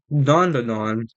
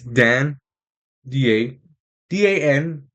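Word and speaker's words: Dandadan: It's Dan D-A, D-A-N, D-A, D-A-N, Dan, Da, Dan. But it's pronounced Don, Don, especially in the song.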